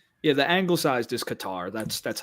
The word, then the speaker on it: Qatar: I hear there's like 20 different ways to say it apparently which kater is the one that blows my mind.